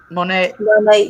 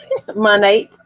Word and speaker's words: Monat: plus size modeling and network marketing entrepreneurship with Monat. Did I say it right? Monat. Yes. Monat.